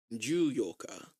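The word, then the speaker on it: 十四日: So it uses the same four as if it was just the fourth day of the month. Okay. Fourth, that's yoga? Oh, I probably just put a 10 in front of it then, right? Yep, exactly. Okay. Juyoka. Juyoka. So you want to be careful about that because yoka is the 8th.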